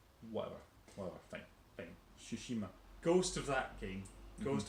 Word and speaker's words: Tsushima: Tsushima, it's got a T at the beginning. Right, but you don't pronounce the T. Whatever, fine. Tsushima.